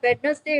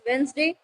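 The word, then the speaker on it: Wednesday: Same वेडनेसडे कहते हैं आज तक, बट इट्स नॉट वेडनेसडे, इट्स वेंसडे।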